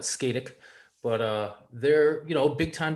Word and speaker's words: Scatec: It's Scotech. I like how you say it. I've always called it Skatic, but they're a big time developer, global developer.